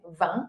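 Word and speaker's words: vingt: El 20 ya vimos que se dice va en el video pasado porque aquí tenemos una nasal. Va, va. Como una A, así. Va. La G y la T no se pronuncian.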